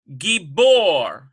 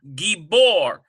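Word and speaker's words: גבור: Now, this one here, number 2, we have gibor. Gibor. Well, already we can hear the doubling here.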